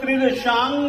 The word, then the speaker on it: त्रिदशांग: तो न के बदले में ये अनुस्वार, परंतु याद रखिएगा इस अनुस्वार के बाद में ये जो ग है ना, ग, इसका जहां से उच्चारण होगा ग का उच्चारण भी वहीं से होता है। इसीलिए हम लोग त्रिदशांग नाभिर, उस जगह पर हम अनुस्वार के बदले में इसी का प्रयोग करेंगे। अब देखिएगा, यानी कि अनुस्वार